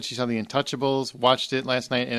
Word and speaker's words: Intouchables: H said wait and it's Intouchables not Untouchables Brian um Hugh you're